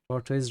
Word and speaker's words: tortoise: attacks who knows tortoise rhymes with tortoise rhymes with purpose okay it's not tortoise